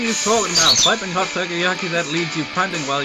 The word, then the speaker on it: takoyaki: It's takoyaki. You're fail so much of pronunciation, so takoyaki.